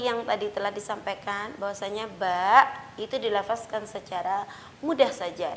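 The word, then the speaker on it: ب: adalah pelafalan yang salah yang benar adalah pertemuan bibir atas dan bawah secara sempurna dan dilepaskan secara biasa saja tidak ada lidah yang diangkat dan tidak ada lidah yang ditempelkan ke atas langit-langit ba bi bu dan ingat disitu tidak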